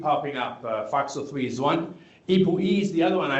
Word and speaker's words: ApoE: So if you have the ApoE gene, then you're more likely to have dementia or develop dementia. Say that again slowly. Or can you spell it? It's called ApoE, APO-E, ApoE.